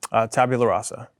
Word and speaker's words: tabula rasa: what is the name of the sober house tabula rasa and how do you say that tabula and